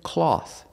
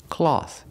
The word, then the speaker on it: cloth: you don't wear that pronunciation cloth cloth using the a sound like ball and call a a cloth and the th with no voice just air cloth cloth is countable this